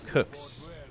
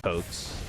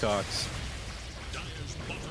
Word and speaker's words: Kukuys: It's pronounced Kooks with short Q. Kooks. Now it's Kooks. was just going to say coaks.